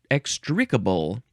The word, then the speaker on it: extricable: Extricable. Extricable, that is an adjective. You can also pronounce it extricable. Emphasize the first syllable.